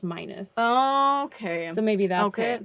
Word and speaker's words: Minis: well the first one it said menace and then it said dr minus but it's spelled m-i-n-i-s from what i saw but then in a video i heard them say it was pronounced minus okay so maybe that's